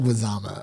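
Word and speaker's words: Leguizamo: his last name uh because I can never pronounce it correctly John lezama John lezama okay okay that see that that that's better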